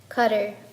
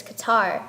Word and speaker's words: Qatar: Qatar, often mispronounced as Qatar, has an incredibly high ratio between migrants to citizens.